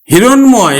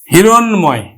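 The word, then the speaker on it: হিরণ্ময়: ম ফলা যুক্ত থাকে তাহলেও কিন্তু ম ফালার উচ্চারণ হবে যেমন আমি লিখলাম হিরণময় এই যে দেখো মধ্য এর সাথে ম ফলা আছে এজন্য কিন্তু ম ফলার উচ্চারণ হবে হিরণ ময় হিরণময় মধ্যম এর সাথে ম ফলা যুক্ত থাকার ফলে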